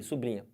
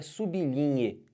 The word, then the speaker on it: sublinhe: Sublinha. Pá, sublinha tá errado. Todo mundo fala sublinha, né? Assim, o certo é sublinhe.